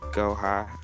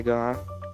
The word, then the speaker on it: Gauher: is functional product design with me here is goha J hi goha hello how are you I'm fine I hope I'm pronouncing your name the right way anyway that's